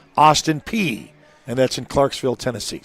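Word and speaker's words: Austin Peay: It's pronounced Austin P and that's in Clarksville, Tennessee.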